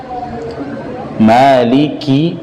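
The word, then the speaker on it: مَالِكِ: Maliki, kaf sifatnya hamz. Ketika diucapkan ada jerianun nafas, ada aliran nafas yang keluar. Maliki, ki, tapi jangan berlebihan. Maliki, biasa aja ya.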